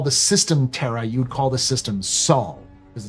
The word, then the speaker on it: Sol: It should be called Sol, like Sol, S-O-U-L, but CIG seems to be pronouncing it as Sol, as in S-A-U-L, but spelled S-O-U-S-O-L.